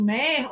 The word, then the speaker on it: Méier: Perdeu a sonoridade alemã, que seria Meyer, né? E ficou sendo Meyer mesmo, e aí precisa do acento para poder fazer a ortografia correta, né, na pronúncia.